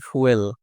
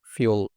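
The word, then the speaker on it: fuel: বলে রাখি আমরা জানি ফুয়েল আমরা সবাই বলি মোস্ট অফ আমরা এটাই বলি ফুয়েল ফুয়েল ফুয়েল কিন্তু এটার সঠিক প্রোনাউন্সিয়েশনটা ফুয়েল না ফিউল।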